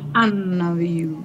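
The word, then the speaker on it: النبي: enseñar en el futuro donde la n se come la L y se lee anu tiene que ver con el shed también la l aparte que la miramos no se le no se pronuncia sí como asalam como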